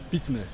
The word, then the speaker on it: Spitzner: Pitzmer.